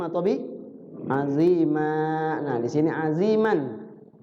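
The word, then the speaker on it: عظيما: Nah, di sini aziman. Dia sebenarnya dibacanya pendek, aziman. Tapi karena diwaqafkan di situ, berhenti di situ, maka setiap huruf yang berbaris fathatain jadi panjang, jadi mat. Ya, panjang. Azima gitu.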